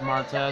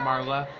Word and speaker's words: Marta: Her name is Marta, not Marla.